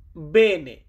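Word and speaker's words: bene: এটা বলতে গেলে আমাদেরকে ইতালিতে বলতে হয় বেনে।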